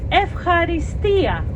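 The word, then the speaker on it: ευχαριστία: so if Harry stole the stress is supposed to go to the last syllable if it's possible I know it's not easy for Anglo-Saxons but for other people from other uh with other backgrounds and from other countries maybe it's a bit more easy than for Anglo-Saxons to put the emphasis on the last syllable like the Greeks do so if Harry Stone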